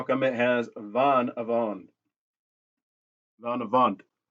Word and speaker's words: vanavond: But how come it has vanavond? Vanavond. And it's pronounced, with the D, it's a heavier D, almost a T ending to it.